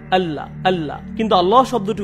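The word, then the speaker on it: الله: সাধারণ নিয়ম হলো যখন লাম অক্ষরের উপর তাসদিদ যুক্ত হয় আমরা হালকাভাবে উচ্চারণ করি। আল্লাহ আল্লাহ।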